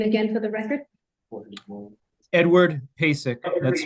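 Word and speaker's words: Pacek: your last name my last name is pesic you spell that P A CE K may we swear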